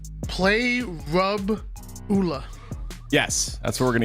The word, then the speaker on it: Parabola: It's parabola, not parabola. It's parabola. All It's right. parabola. We're gonna throw it to Why Not. We're gonna get the official pronunciation of parabola. Play rub ula.